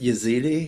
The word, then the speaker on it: Yazidi: just specifically the Yazidi, is it Yazidi? Is that how you pronounce it? The Yep.